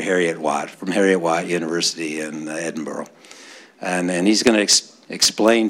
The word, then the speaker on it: Edinburgh: So we have Professor Malik from, now you're Heriot-Watt, from Heriot-Watt University in Edinburgh. And he's going to explain to you from all over the world why that's pronounced Edinburgh, not Edinburgh.